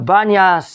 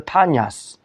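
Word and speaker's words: Banias: Really, the Banyas is the Panyas. The Romans called it, but the Arabs they cannot pronounce the P, and they pronounce it with the Bet, and therefore they call it the Banyas and not the Panyas.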